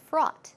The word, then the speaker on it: fraught: be dangerous you know fraught with danger now what's the word fraught if our au ght pronunciation is fraud fraud fraud fraud with something means